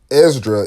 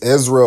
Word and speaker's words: Esdras: And the thing about Esdras is that, and there's two ways you can pronounce it. It's Ezra or Esdra. So in the pseudepigrapha, it's spelled Esdra, but in the Bible it's spelled Ezra.